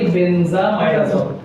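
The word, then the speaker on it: benzimidazole: বেনজামাইডাজল, বেনজামাইডাজল, পলি বেনজামাইডাজল। এটা পরীক্ষার সাথে পিবিআই লিখলেই হবে, এটা জাস্ট জানার জন্য বললাম। এটা জেড আই আছে কিন্তু উচ্চারণের সময় বেনজামাইডাজল বলে। জাস্ট পিবিআই লিখলেও হবে আর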